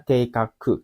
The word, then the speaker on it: 計画: Keikaku ini bacanya keikaku.